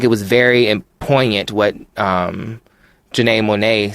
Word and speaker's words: Janelle Monáe: We have to, I think it was very poignant what Janelle Monáe said about... Did I say her name right? Janelle Monáe.